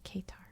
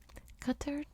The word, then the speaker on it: Qatar: portugal merhaba from qatar now in america we say katar but i've been practicing pronouncing it correctly cutter pokes out into the